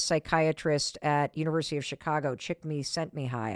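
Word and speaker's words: Csikszentmihalyi: at University of Chicago, Chick Me Sent Me High, I think is how you say his name.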